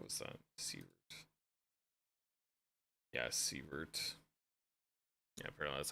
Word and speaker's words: Sievert: Sievert. Yeah, Sievert. Yeah, apparently that's how it's spelled.